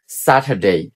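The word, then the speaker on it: Saturday: আমরা শিখে নেই স্যাটারডে স্যাটারডে আপনি এখানে আরটাকে সাইলেন্ট দিতে পারবেন আর উচ্চারণ করা লাগবে না বলতে পারেন স্যাটারডে স্যাটারডে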